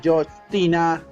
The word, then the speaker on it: Justina: Justina, pronunciada como Justina, fue más tarde admiradora